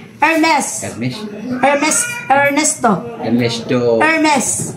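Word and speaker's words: Hermès: hermes hermes Ernesto Ernesto hermes hermes Maeda Opo hermes baka ang pagbasa na naman nian ng hermes is hermes branded kasi yan silent h just to ano na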